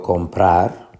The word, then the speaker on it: comprar: ejemplos son por ejemplo comprar comprar llegó a la fuerza de pronunciación en la última sílaba a sílaba tónica compra